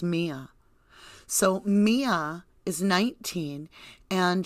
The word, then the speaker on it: Miya: this is where mia have i been saying maya i believe it's pronounced mia so mia is 19